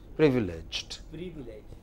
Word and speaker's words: privileged: next delusion next privileged no don't make the second syllable longer that is just the first thing privileged good next after privileged